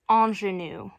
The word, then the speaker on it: Ingenue: Lip from ColourPop in Ingenue. That is how you pronounce that. I know it says, like, it's spelt with an I. That's a French word.